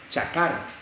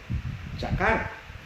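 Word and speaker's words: חָקַר: Y entonces la palabra examinado viene del hebreo chakar. Es C-H-A-Q-A-R. Q, o sea, ahí se pronuncia como C, pero es chakar.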